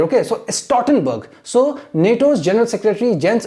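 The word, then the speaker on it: Stoltenberg: right so you see this L is silent here okay so a stortenberg so NATO's General Secretary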